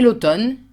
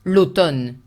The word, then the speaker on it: l'automne: Et l'automne, careful also because it's written M-N-E and you only pronounce the N sound.